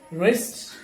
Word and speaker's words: wrist: But in this list, letter W is absolutely silent. So wrong, wrist, wreck, rat, right, and wrestle.